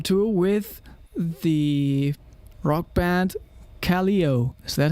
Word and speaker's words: Kaleo: in iceland take icelandic yes so it's uh pronounced kaleo yeah sounds very german that's crazy but you